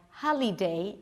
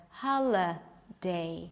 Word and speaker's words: holiday: Or the I will be pronounced as E, like holiday instead of holiday. Aqui, ó, ela falou da palavra holiday, que a gente pronuncia como holiday, quando esse Y tá sendo schwa, né? Holiday, holiday. Right?